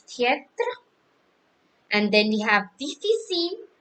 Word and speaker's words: difficile: And then we have difficile. Difficile, we don't pronounce E at the last.